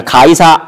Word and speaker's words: 가이사: 시간을 가르쳐 주고 있습니다 가이사 아구스도가 이제 영을 내는데 아 시저 어거스터스를 옛날 발음 해서 이렇게 됩니다 뭐 중국을 거치고 한국을